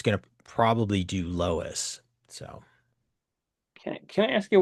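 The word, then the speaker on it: LOESS: Lois. Yeah, that's pronounced Lois.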